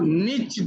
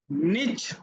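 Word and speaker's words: niche: इसे कहते हैं सब निच डाउन. निच डाउन या निच डाउन दोनों प्रोनाउंसिएशन है इसकी.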